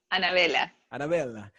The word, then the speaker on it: Anabella: So again, give me your name in the Spanish, the Panamanian Spanish way to pronounce it. Anabella. So Anabella.